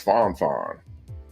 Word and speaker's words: Fon Fon: thing oh Fon Fon he said uh no it's Fon Fon okay uh thank you